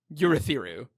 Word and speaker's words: Urithiru: But I do not like saying Urithiru.